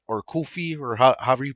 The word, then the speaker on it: Coffey: But I just can't really get behind the style of Joey Coffey or Kofi or however you pronounce it. Coffee.